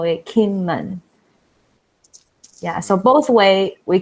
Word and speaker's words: Kinmen: Jingmen. Okay. Jingmen. Okay. Kinmen. Yeah. So Jingmen is in Mandarin, but if you translate to English, we will call it Kinmen.